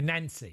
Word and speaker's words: Nancy: Well, for most people in the UK, would look at it and say Nancy. Nancy, I know.